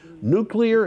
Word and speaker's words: nuclear: GOP lawmakers claim it's about protecting farmland from, quote, nonsense, end quote, renewable projects, and Wisconsin should pursue nuclear energy instead.